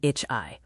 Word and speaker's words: ich: A trickier sound is CH. It sounds soft like in ich, or hard like in acht, 8.